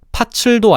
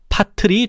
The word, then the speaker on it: 팥을: 따라서 파츠도 아니고 팥을도 아니고 파틀이 되는 거지.